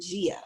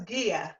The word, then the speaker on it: Gia: they are crystal and gia so today we have gia with us today am i saying it right gia no it's ghia gia oh lord it's ghia i wrote gia but it's guilla so gives with us today